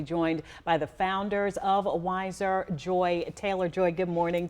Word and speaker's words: Wyzr: It is called WISE, but it's spelled W Y Z R.